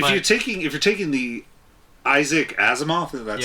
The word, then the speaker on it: Asimov: No, if but you're taking the Isaac Asimov, that's how you Yes.